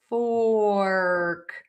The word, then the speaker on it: fork: Again, this is about moving the mouth more. Or or many people who make a mistake with this word say. That is not what you're asking for. You are asking for a fork.